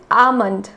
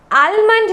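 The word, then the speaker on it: almond: First is आमंड। आमंड मतलब बादाम, तो इसमें L को हम हमेशा साइलेंट रखते हैं। आलमंड नहीं बोलते हैं, आमंड बोलते हैं। आमंड, मेरे साथ बोलिए, आमंड।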